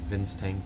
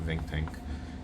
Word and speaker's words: Ving Tank: Not really doing a new direction, but something that's a bit more easier to say because people continue to say Vince Tank or Vic Tank, mispronouncing of Ving Tank.